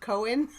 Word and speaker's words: Cohen: And is this the wrong time to point out that it's pronounced Cohen?